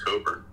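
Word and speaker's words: Cockburn: a Canadian artist named Bruce Coburn that's spelled c-o-c-k-b-u-r-n and he's an amazing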